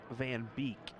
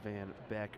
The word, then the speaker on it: van Beek: i think it's van beek i said van back earlier so i think it's hunter van beek there's the hopefully correct pronunciation let me know derek